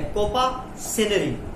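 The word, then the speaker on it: coparcenary: एंड दूसरा क्या है, कोपा, आर इसमें साइलेंट है, कोपा सेनरी, कॉपा सेनरी, COPA कॉपा, आर यहाँ पर साइलेंट है प्यारे बच्चों, सेनरी, कॉपा सेनरी।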